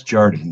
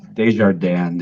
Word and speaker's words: Desjardin: pronounce it uh that's Jordan so just like it's spelled this journey it's not it's not some fancy French name uh if you say it in French it is uh Desjardin if you say it